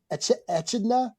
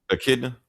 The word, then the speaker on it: Echidna: Etchidna. Akidna.